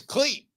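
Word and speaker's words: Klete: Cleat? I think it's Cleat Keller. Yeah, Cleat Keller, yeah. His name is Cleat, as in Cletus.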